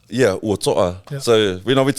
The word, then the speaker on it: Uatoa: You had to sort of, the correct pronunciation of your name is Uatoa, right? Yeah, Uatoa.